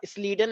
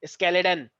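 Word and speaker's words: Schleiden: तो इनका नाम वैसे तो स्लीडन एंड स्वान है प्रोनाउंसिएशन वाइज, लेकिन कुछ लोग क्योंकि स्पेलिंग याद करनी होती है तो कुछ लोग इनको बोलते हैं स्केलेटन एंड सकवान, लेकिन ऐसा है नहीं, स्लीडन एंड स्वान है ये, ठीक है।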